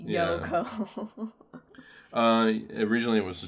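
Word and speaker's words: Yohkoh: oh no no right not spelled like that it's y-o-h-k it's spelled like phonetically yoko uh originally it was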